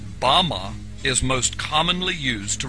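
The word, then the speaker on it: במה: which satan fell is strong's hebrew word 1116 pronounced bama bama is most commonly used to refer to a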